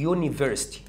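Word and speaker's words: university: اهي تتقال يونيفرسيتي. كويس؟ اتنطقت يه، اتنطقت يه يونيفرسيتي. خدت بالك انت اليو اتنطقت ايه؟ اول ما تتنطق يه اعتبرها ساكن، لكن الطبيعي بتاعها وهي بتتنطق متحركه، اجلي، امبريلا، وهكذا.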